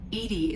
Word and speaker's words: EDI: have a specific inquiry why are you named Edie Edie is the ftic pronunciation of e di that is an acronym